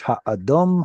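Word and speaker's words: הָאָדֹם: It's a Dalit instead of a Resh. Ha'adom, ha'adom. Let me read through one time. Vayomer Esav El Yaakov Hal'iteni na min ha'adom ha'adom hazeh.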